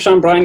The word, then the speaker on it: Sean Brien: So my name's Sean Brien. You pronounced it right.